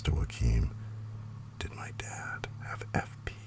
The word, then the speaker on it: Joaquin: I thought he was Joaquin but it's Joaquin. It's like Keen, like Katie Keen.